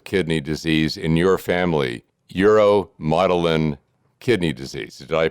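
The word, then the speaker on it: uromodulin kidney disease: And it wasn't until 2016 that genetic testing revealed the cause of kidney disease in your family, uromotilin kidney disease. Did I pronounce that correctly?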